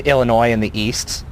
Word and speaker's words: Illinois: It's like Illinois in the East. It's like the S is silent, stupid.